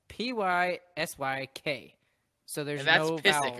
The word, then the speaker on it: Pysyk: So the new Pysyk is how we say it.